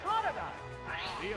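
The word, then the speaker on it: Totodile: Oh, it's Toadile.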